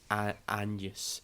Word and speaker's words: Agnes: Buckley, who stars as Agnes, or in this film it's pronounced Agnes. The G's kind of got like a Y sound to it.